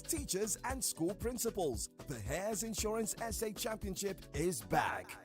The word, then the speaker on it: Heirs: Hares is spelled HEIRS.